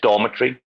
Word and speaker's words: dormitory: it doesn't make sense your only supposed to have one stressed syllable per word normally on the on the opposite side left and right of that stress syllable you normally have a schwa sound that's the unstressed syllable that will make that one stand out a little bit why did Americans change